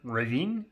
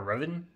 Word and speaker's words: Revan: I found Jon Stewart, along with Darth Riven, or Revan, depending on how you want to pronounce it, and be fancy.